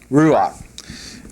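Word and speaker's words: רוח: This would be pronounced R-U-A-K. Or A, how does he got that in the book? A-H. Ruach.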